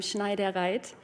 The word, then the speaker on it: Schneidereit: You pronounce my surname Schneidereit.